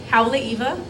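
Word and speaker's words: Haleʻiwa: But yeah, so like I said a little bit ago, I'm from North Shore, or as you might pronounce it, Haleiwa.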